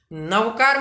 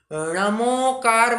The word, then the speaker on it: नमोकार: नवकार मंत्र नहीं बोलना, नमोकार मंत्र बोलना। नवकार यह अपभ्रंश हो चुका है। नमोकार, बाण का ण जो है उसका उच्चारण होना चाहिए, नमोकार ऐसा उच्चारण करें।